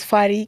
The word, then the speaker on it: Fadí: right here once again my name is Fadi capital letters f-a-d-i with an accent on the eye you can catch me